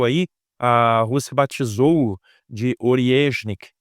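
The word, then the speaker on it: Орешник: a rúsia batizou de ornik e eu fiquei aqui treinando com o Google translat que é uma palavra russa eu não entendo nada de Russo mas parece que a pronúncia é essa né ornik e ele esse míssel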